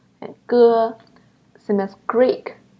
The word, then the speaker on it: j: Look at this one, G. It's kind of similar, but still a little bit different from the G sound in Jeep. When you pronounce it, you need to make your tongue flat instead of curl it.